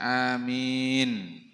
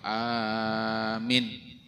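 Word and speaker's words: آمين: Wa yajharu biqaulihi amin fil jahriyah, kemudian menjaharkan bacaan amin. Bacanya lah panjang a-nya, panjang min-nya. Jadi jangan dibaca amin atau amin. Udah pas. Yang pas tuh a-nya panjang, min-nya panjang. Jadi amin.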